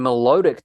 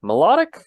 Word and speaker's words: Milotic: with my lodic melodic melodic I always thought it was melodic but I've heard I say melodic Milotic Julia Miguel help us